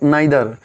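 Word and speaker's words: neither: Next जो डे है हमारा 10th डे में हम क्या पढ़ने वाले हैं, ईच, एवरी, आइदर, नाइदर। इसे हम इधर नीदर भी प्रयोग कर सकते हैं, प्रोनाउंस कर सकते हैं।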